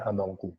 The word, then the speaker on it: Hamengku: memutuskan bahwa yang terdapat dalam naskah tersebut itu dibacanya Hamengku yaitu prestasi pertama gemes cara periodesasinya 1717 itu